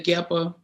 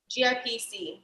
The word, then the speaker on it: GIPC: can you explain the geppa to them yes so um ghana um actually i'm saying it wrong it's um gip gipc so gun investment and promotion